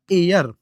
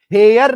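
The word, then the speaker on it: heir: इसका जो उच्चारण है ना वो होता है एयर। है ना? एयर करके होता है एयर। है ना? इसका उच्चारण हेयर नहीं है। एयर है।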